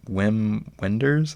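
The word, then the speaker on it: Wim Wenders: first uh how do you say his name whim Wenders I guess uh yeah it was my first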